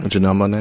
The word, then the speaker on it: Janelle Monáe: Janelle Monáe.